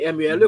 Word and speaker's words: Mele: Mele, Mele M-E-L-E, comme ça se prononce Mele, nous Mele.